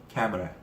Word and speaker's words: camera: 그런데 얘가 강세가 first syllable, 첫 번째 모음에 강세가 실립니다. 자, 그러면 카를 강하게 읽으라는 얘기죠. 그 강하게 읽으면 애 발음이 되면서요, 캣라는 발음이 됩니다. 그러면 캣을 강하게 읽기 위해서는 그 나머지 옆에 있는 애를 약하게 읽어야 되죠. 이 약하게 읽을 때 발음이 스펠링과 상관없이 전부 다 슈화 발음입니다. 자, 그래서 발음은 camera 이렇게 말아 라고 읽어주셔야 해가 강조가 되면서 상대방은 카메라라고 알아듣게 되는 겁니다.